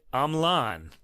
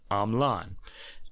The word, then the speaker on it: Hamelin: But Russ has discovered a video of Marc-André himself pronouncing his name as Hamelin, like the German town where the Pied Piper comes from.